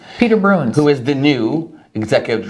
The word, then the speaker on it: Bruijns: It's not Bruijns because the J is silent. It's Bruijns. It's Peter Bruijns, Peter Bruijns.